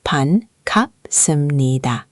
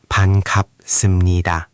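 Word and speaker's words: 반갑습니다: It's ban gap The gap sound should pop a little. Try again. Ban gap seum ni da.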